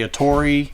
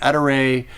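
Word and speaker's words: Ettore: atari products company there's different uh things out there about how you say it i was raised to say a tory if you listen to me talk long enough i'll say tori etta ray it's a great company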